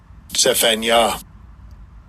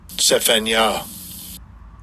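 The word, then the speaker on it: צפניה: And I'll give you a pronunciation of it. Strong's age 6846 Sephanya Sephanya Sephanya says Yahawah has treasured and it says I'm going to go to definition B.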